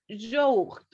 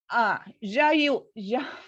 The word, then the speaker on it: yaourt: En dessert, on prend un fruit ou un yaourt. Recuerda, un yaourt. Yaourt. Tu fais yaourt.